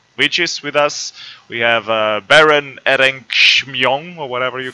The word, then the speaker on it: Beren Erchamion: We have Baron Erenkshmyong or whatever you call it. And then we have two How do you pronounce masters. your name, Baron? Beren Erchamion.